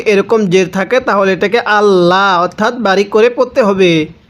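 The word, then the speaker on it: الله: কারণ আল্লাহ শব্দের লামের পূর্বে যদি এরকম জের থাকে তাহলে এটাকে আল্লাহ অর্থাৎ বারিক করে পড়তে হবে।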